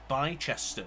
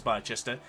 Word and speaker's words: Bicester: It's like the city of Bicester, which you might think is Bicester, is actually pronounced Bicester.